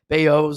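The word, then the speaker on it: Bellozo: Mexican so his uh you need the Spanish pronunciation and not the Italian pronunciation so his name is actually beoo I believe something like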